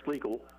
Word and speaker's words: Schleichel: Schleichel is how you pronounce the young man's name.